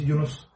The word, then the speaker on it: Yunus: To be honest, I don't expect anyone to say it correct. If you're not Turkish, it's almost impossible to say it correct. How do you it will sound weird. Yeah. The real pronunciation is Yunus.